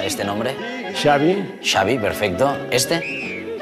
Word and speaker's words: Xavi: Andrés, ¿cómo se pronuncia este nombre? Xavi.